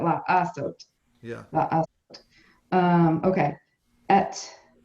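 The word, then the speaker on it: לעשות: Teresa, that you have another syllable with the ayin. So you got to say Yes. la sot. 3 So syllables. you have to definitely say that La Asot.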